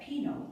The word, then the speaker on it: Pino: then i learned that pinot pronounced p-e-a-n-o was still alive some